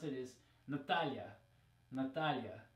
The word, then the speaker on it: Natalia: another one that people always complain when people mispronounce it is Natalia Natalia right because in English it would be Natalia with an e now to make matters even